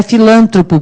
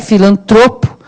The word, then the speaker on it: filantropo: Não é filântropo, porque muita gente fala filântropo, escreve filântropo e acentua filântropo. Mas é filantropo.